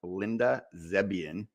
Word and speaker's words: Linda Zebian: Uh and today we are super excited to have Linda Zebian, which I just pronounced correctly.